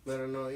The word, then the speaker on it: Metanoia: Metanoia. I keep saying it wrong. Metanoia, yeah. It's Greek. It's Greek philosophy for your own spiritual journey.